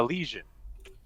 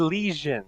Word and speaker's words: Legion: He said lesion, as in an infection. Lesion, not legion.